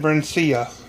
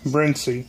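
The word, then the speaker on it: Brinsea: part of this Briny how do you say it Briny or brenia I've always said binia but I watched recently a video from the company and they say Briny so I guess I'm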